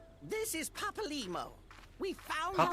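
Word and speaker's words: Papalymo: This is Papa Limo. We found Papa Limo. That's how you pronounce him.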